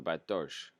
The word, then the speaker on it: Bartosz: Side note, SZ in KY name is pronounced in English as sh, as in show. So Bartosz.